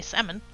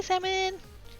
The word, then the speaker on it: salmon: people say salsa say salmon I make it sound like it doesn't have an L in it I make it sound